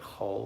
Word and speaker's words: chol: We have the 6 days of the week are called chol, or profane as it's pronounced, but chol, which means just mundane, as opposed to Shabbos, which is holy.